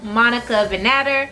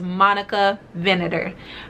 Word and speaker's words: Monica Vinader: first i have an amazing partnership today with monica vanetta hi guys editing monroe here from the future just popping in to let you all know the proper pronunciation for monica venator that again is monica vinator all right guys back to the video thanks